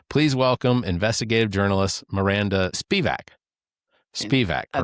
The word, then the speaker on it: Spivack: Anyway, um thanks very much for having me, for protecting me, for you know, pronouncing my name correctly. It is Spivack.